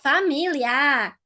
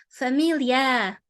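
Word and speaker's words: família: she did she did ah familia but European Portuguese is familia familia going down not a no This last word is one of the classics that students always struggle to pronounce.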